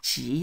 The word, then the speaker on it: 吉: Although it's 吉, not 橘, but we sort of... You mispronounce it a few times, you get that.